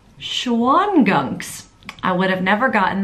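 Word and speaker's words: Shawangunks: as being located between the Catskills and the Schwanegunk. Oh, let me check on how to pronounce that. All right, let's listen to an expert do it. The ridge slicing through Ulster County is called the Schwangunks. Schwangunks.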